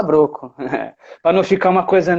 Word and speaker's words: Brocco: O certo seria Broco, né? Mas Broco. como fica meio esquisito, a gente costuma falar Broco.